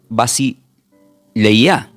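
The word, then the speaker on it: βασιλεία: Y esta palabra del griego, porque el reino es anunciado, se pronuncia como bas leia a lo voy a deletrear. V larga a s i l e y con acento y a.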